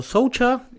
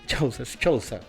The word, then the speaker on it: Chouza: Bueno, así pasaba Soucha, como dijimos, economista, docente de la UBA, de la Universidad de Avellaneda, director de la consultora Sarandí. Chousa. Y vamos, Chousa, no sé ni leer. Así se pronuncia, Chousa.